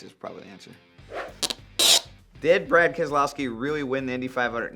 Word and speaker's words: Keselowski: this one is tough if you ask my mom my dad my uncle my grandparents they say kesa allow ski like AK as a blouse key I don't like to pronounce it that way because people just butcher it so I just go Keselowski you can pronounce now